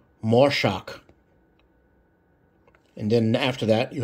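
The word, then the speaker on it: מָשַׁח: look here you see the English phonetic pronunciation more shock and then after that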